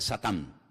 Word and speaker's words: Satán: En hebreo no se dice Satanás, se dice Satán, que significa adversario.